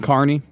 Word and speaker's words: Kearney: Oh, Kearney and Carney. Did you get Carney right the I first know.